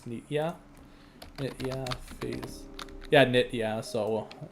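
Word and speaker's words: Nitya: Make sure I'm pronouncing it right. It's I'm pretty sure it's Nitia.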